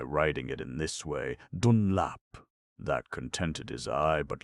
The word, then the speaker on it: Dunlap: it in this way, Dunlap. That contented his eye, but left his ear unsatisfied, for people gave the new name the same old pronunciation, emphasis on the front end of it.